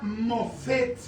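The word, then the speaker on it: מופת: La palabra que se ocupa aquí para maravillas es la palabra es la palabra hebrea mofet. Se escribe m O p h e t h. Mofet.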